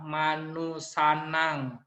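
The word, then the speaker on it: manussānaṃ: Terus ada M titik atas dibaca Manusanang. Manusanang.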